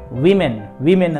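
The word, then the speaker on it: women: ಈಗ ಇನ್ನೊಂದು ಶಬ್ದ, ಮಹಿಳೆಯರಿಗೆ ಏನಂತೀವಿ ನಾವು, ಉಮನ್ ಅಂತಂದು ಕರಿತಿರ್ತೀವಿ. ಬಟ್ ಉಮನ್ ಅಲ್ಲದು ವಿಮೆನ್ ಅಂತಂತ ನಾವು ಉಚ್ಚಾರಣೆ ಮಾಡಬೇಕಾಗತ್ತೆ.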